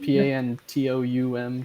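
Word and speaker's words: pantoum: is going back and I'm probably going to mispronounce this going back to the pantom form of lyrics or right that's right pan t o m pantom uh of repeating the second line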